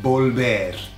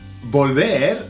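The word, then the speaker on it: volver: bolder is to return bulbar to return and bolber sounds like the car volvo i think it's pretty international or multinational type of vehicle volvo so imagine that you're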